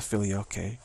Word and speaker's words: filioque: That's the filioque. Filioque. Okay, now we have the right pronunciation.